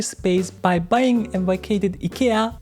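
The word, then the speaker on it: IKEA: by buying a vacated Ika as I'm Swedish is the right pronunciation nadaka Ika and building a 16,000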